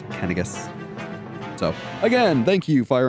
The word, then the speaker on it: Canas: like uh canas it's his name looks like it would be pronounced Kanas but no it's kenas so again thank you